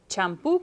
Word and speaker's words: champú: So it ends in a vowel, but the stress is on the last syllable, so you need an accent.